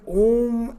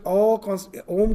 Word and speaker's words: Om: So you know that Om constitutes of 3 syllables. A, U, Ma.